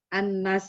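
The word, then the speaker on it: الناس: sempat ee menambahkan tanwin Ustaz kayaknya bacanya Annas gitu Tapi maksudnya tasdidya Eh tanwin Iya ada tasdidnya gitu Karena kan kalau di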